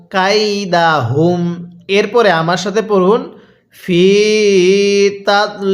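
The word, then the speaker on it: فى تضليل: এরপরে আমার সাথে পড়ুন ফিতা ফি এর মধ্যে টান দিবেন পড়ুন ফিতা আরেকবার আমার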